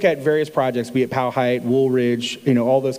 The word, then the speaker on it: Powhite: is the Powhite Parkway, however you want to pronounce it. I grew up here, so I'll call it Powhite.